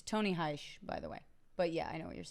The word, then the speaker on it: Hsieh: It's Tony Heish, by the way. But yeah, I know what you're saying. It's Heish? Yeah. I thought it was Hsieh. It's Tony Heish is how you pronounce it, I believe.